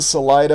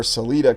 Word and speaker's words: Salida: Here in Salida or Celita, Colorado, pronunciations vary, you have the roundhouse of the great rails.